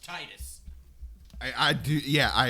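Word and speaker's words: Tidus: not because it pronounced it should be pronounced Titus I I do yeah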